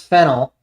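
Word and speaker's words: phenyl: The name fennel produced pronounced fennel uh abbreviated as ph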